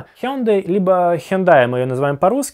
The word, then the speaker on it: Hyundai: Я посмотрел в Википедии, это Hyundai . В английском языке это звучит очень похоже на слово Sunday (воскресенье).